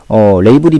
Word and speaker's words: label: 우리는 뭐 라벨이라고 하는데 영어식 발음은 레이블입니다. 레이블이 명사로 쓰이면 어떤 상표나